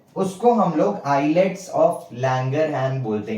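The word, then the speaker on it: islets: हैं उसको हम लोग आईलेट्स ऑफ लैंगर हैन बोलते हैं ठीक है आईलेट्स of Langer hands spelling में एस आता है लेकिन उसको हम लोग आईलेट नहीं बोलते आईलेट बोलते हैं ठीक है तो क्या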